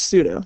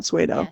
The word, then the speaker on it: pseudo: say it right pseudoscience I'm pretty sure it's pseudo not swayo I just want